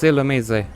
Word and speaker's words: Illumise: Oh my god, it's Illumise. Let the universe erupt with controversy over how this thing's pronounced, but according to Shaka Conroy, the official pronunciation is Illumise, and I never particularly...